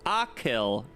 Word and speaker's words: Achill: Pronounce Achill.